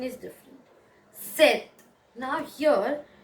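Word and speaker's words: sept: the pronunciation is different set now here instead of pronouncing the p we pronounce the t so it is not sep but it is hi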